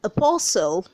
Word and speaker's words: apostle: number 17 we have apostle apostle when you say apostle you get to see that the t is silent don't say apostle the